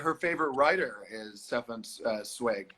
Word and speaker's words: Zweig: my mom says in the comments here that her favorite writer is Stefan Zweig. Zweig.